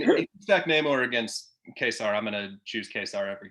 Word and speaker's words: Ka-Zar: We get pronounced Ka-Zar.